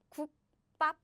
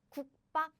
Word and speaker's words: 국밥: So what happens is, nope, I don't pronounce this softly. I pronounce this strongly as in 국밥, 국밥, name of the dish.